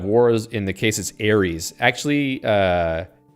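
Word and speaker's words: Ares: Aries actually uh uh the Greeks would say Aris ARS yeah maybe maybe more like RS because the uh ah Alpha is Alpha ah so it's not it's not an air it's an R kind of sound all right I think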